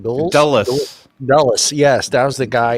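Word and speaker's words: Dulles: s how do you say that D dull dullas yes that was the guy and that's the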